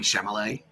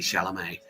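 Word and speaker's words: Chalamet: I've been saying Shamallay and it's actually Shalamé. Yeah. Okay. Yeah. Um it's the same sentence we gave Timothy Timothy Shalamé.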